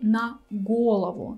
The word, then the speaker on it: на голову: normally basically if you need to say on head you will say na golovo so the first syllable of your word galavan will be stressed here it's different you